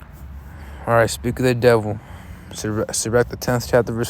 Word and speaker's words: Sirach: Turns out it's actually pronounced Sirach.